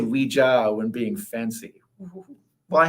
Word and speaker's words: Ouija: I go with the traditional French pronunciation. Because it's oui for French for yes, and ja, which is yes.